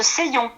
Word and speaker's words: Seillon: C'est la forêt de Seillon. Seillon, d'accord, Seillon. Ça s'écrit comment, voilà.